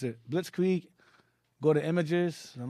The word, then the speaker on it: blitzkrieg: swift victory blitzkrieg yes blitzkrieg that's how you pronounce it blitzkrieg go to images i'm not sure yeah it